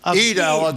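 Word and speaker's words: al-Adha: Heling from Jerusalem, join us on the eve of Al Adah. Did I pronounce Alad?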